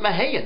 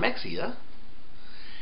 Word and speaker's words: Mexia: the Dallas man says oh yeah yeah they pronounce it Maha not Mexia and the New Yorkers says listen we call